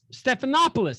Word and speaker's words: Stephanopoulos: to watch your show just to hear me mispronounce everybody's name is that his name watch it yeah stephan stephanopoulos stephanopoulos hey there you go you got it there